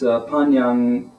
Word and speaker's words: Tanyang: a TanYangGongFu tea, or sometimes you may hear the Tanyang pronounced as Panyang Songo, which is more of the Panyang Songo is more of the regional dialect, so it can become from that TAN of the Mandarin pronunciation become kind of a PAN.